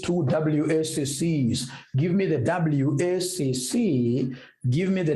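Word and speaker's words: WACC: calulate Eva we also need what we call wac so I want to come and calculate wac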